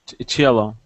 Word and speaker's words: cello: s CEO silos yes CEO that would be cello chello cello chellos disco discos hyro